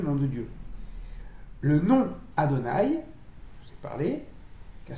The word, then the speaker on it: Adonai: Et comme on ne lit pas tel qu'il est écrit, on a choisi de le prononcer Aleph, Dalet, Nun, Yud, et on lit Adonai.